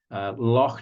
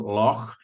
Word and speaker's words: Loch: And lastly, a wet place, Loch Ness, and you could try to get the kids to do the pronunciation Loch, which I know most of you English people aren't very good at saying. You say Loch most of the time, don't you?